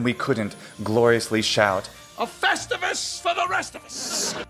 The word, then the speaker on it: Festivus: latin preserve the accent as the accent falls on the e in latin it should also in english and be festivus or festivus but if we actually